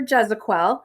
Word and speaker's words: Gezequel: I'm Gezequel, is how you say my last name.